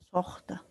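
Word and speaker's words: suxta: Entonces la pronunciación va a ser Sohta.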